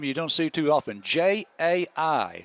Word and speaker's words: Jai: So Jai Brazier in on the stop. Yes. Jai, now that's a name you don't see too often. J-A-I. So just forget the A. It's pronounced J with a long I.